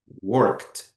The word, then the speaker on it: worked: Primeiro, nós temos o exemplo da palavra worked. Ou seja, nós temos no final o ed, porém, nessa palavra, e eu vou dar exemplos com outras letras, nós pronunciamos com o final T.